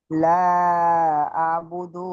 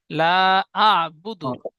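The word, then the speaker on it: لا أعبد: লা আবুদু মা তাবুদুন। লা আবুদু, দালটা ইশারা একটু টান মতো হয়ে যাচ্ছে, টান হবে না, জলদি পড়তে হবে, হারাকাত। লা আবুদু।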